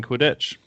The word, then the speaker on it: Quidditch: You completely stressed on the second part. Quidditch. Of the word.